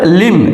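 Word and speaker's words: limb: না বি ও এম B bomb B এর উচ্চারণ হচ্ছে না বোম মিন্স বোমা এরপরে লিম এল আই এম বি লিম লিম means অঙ্গ-প্রত্যঙ্গ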